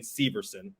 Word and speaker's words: Severson: or uh on the PA system it's Damon Severson okay good to know good to know uh